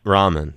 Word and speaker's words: Rahman: Stone Dave Stewart ar Rahman and hopefully I'm pronouncing his last name right yeah ramen yeah you guys dropped an album in 2011